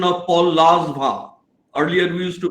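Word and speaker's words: Langevin: is bsc and i distinctly remember his correct pronunciation of paul lazvah earlier we used to pronounce all by the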